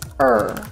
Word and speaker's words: her: is he ready yet or her will sound more like er give her a chair